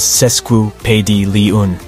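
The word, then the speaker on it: sesquipedalian: The word is pronounced as sesquu pedi liun.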